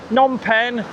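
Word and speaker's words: Phnom Penh: Nonpen is actually spelled P H N O M but a silent P and a silent H. Nom P E N H.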